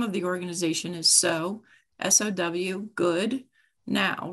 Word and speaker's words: Sow Good: They'll do S-O, or they'll say sow, like, you know, okay. So then I think that's a cow, but so sowing is sowing seeds, and good now, start now.